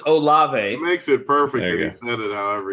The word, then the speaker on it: Olave: hear it uh chris oliveira is that you pronounce the name it's olave it makes it perfect however he said it